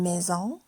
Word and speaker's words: maison: Une maison, ça s'écrit avec un seul S et ça se prononce Z.